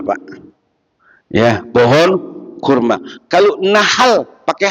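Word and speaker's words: نحل: Kalau nahal pakai H apa artinya?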